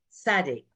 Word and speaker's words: Tsadi: Sadi. If I spelt it in English, a TZADEE, Sadi.